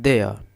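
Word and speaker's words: their: इसमें आर जो है आपका साइलेंट है। तो र आप नहीं बोलेंगे। फिर बोलेंगे देयर। देयर दे देयर नहीं बोलते हैं इसे। इसका सही प्रोनाउंसिएशन होता है देयर।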